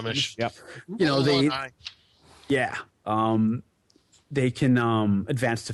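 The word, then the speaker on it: Gruumsh: Then that's going from the deity and demigod book with Grumish. Is that how it's pronounced? Yeah, Grumish.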